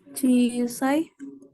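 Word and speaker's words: 小さい: Cisai. Sisanya yang mana? Nomor 4. Hai, betul nomor 4 ya. Yang cara bacanya panjang.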